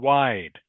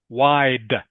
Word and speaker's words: wide: Still I still need to hear the d sound in wide. Tanglam. Wide.